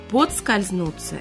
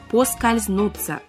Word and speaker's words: поскользнуться: я Мария свешникова здравствуйте подскользнуться или по скользнуться правильный вариант по скользнуться без D хотя часто мы говорим подскользнуться значение слова поскользнуться потерять